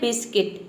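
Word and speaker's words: biscuit: मतलब होता है गिटार अगला वर्ड है बिस्किट बिस्किट मतलब होता है बिस्कुट देखिए यहां पे यू के बाद आई आया है अगला वर्ड है गार्ड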